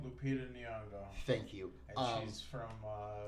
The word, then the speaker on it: Lupita Nyong'o: How do you pronounce this woman's name? Lupita Nyong'o.